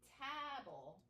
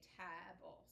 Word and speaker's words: table: Now if you come down here and you add the LE here, it's not going to be tabble because the B has to go with the LE because it's a consonant LE.